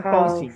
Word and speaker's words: cousin: No cousin. Housing. Cousin, no. Cousin. La S, Housing. yeah, la S suena como Z.